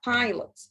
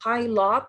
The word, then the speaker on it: pilot: مش بقول pilot. مش بخليها أو واضحة وصريحة. ولكن بقولها pilot. It's a شوا اللي اتكلمنا عنها قبل كده. فهي بتكون سريعة جدا وبخطفها في النطق.